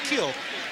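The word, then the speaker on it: Kiln: got from Kill Mississippi he said there's an in on the end of the kill but you don't pronounce it you just say kill I guess I always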